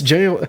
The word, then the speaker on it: gaol: Gaul was literally jail, just arcade spelling pronounced the same. Oh, it's jail.